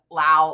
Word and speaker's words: Lau: Sorry, Jen told us in the background that it rhymes with wow, and for some reason that is way easier to remember than Lau, like loud.